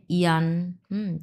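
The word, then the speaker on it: ying: ওয়াই আই এন জি, হ্যাঁ, ওয়াই এর সঙ্গে আইএনজি বসছে, এটাকে আমরা কি বলবো? ইং উচ্চারণ করব? নো, ইয়ং। একবার স্লাইড ভাবে ইয়ংটা যেন সুন্দরভাবে উচ্চারণ হয়, ইয়ং, এটা কিন্তু ইয়ং। এটার উচ্চারণ হবে কিন্তু ইয়ং, ইং উচ্চারণ হবে না।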